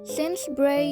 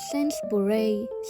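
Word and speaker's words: Sainsbury's: Ato na nga nasa Sense Bray na kami. Sense Bray yun po ang pagbigkas nila dito. Hindi po Sense Bay. Silent you.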